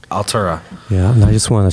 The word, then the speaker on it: ALTVRA: i'll Torico i'll tarik oh yeah that's spelled al g v ra ya altura yeah i just want